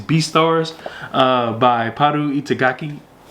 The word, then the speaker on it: Itagaki: Stars uh by puu itagaki itaki I believe is how you pronounce their name um and this just